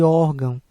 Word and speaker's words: órgão: É o caso de órgão, que acentua-se a penúltima sílaba.